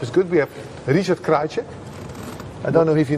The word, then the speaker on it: Krajicek: I never quite got the pronunciation, but Krajicek. Is it Scrivening? No. Richard Krajicek. Oh, no, Krajicek. Yes. Yeah, now he knows.